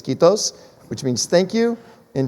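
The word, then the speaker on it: kiitos: if i say it right i believe it's quitos which means thank you in finnish quitos for being with us keith ken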